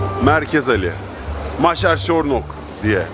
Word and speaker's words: Nagy Vásárcsarnok: Merkez Ali, Maşer Şornok diye telaffuz ediyorlar.